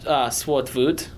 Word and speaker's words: Swartout: Oh, well, it's pronounced Swartvut.